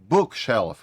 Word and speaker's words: bookshelf: В усному мовленні більший наголос ставиться на перший іменник модифікатор. Тобто, бачите, я там невеличкий наголос поставив на book. Bookshelf.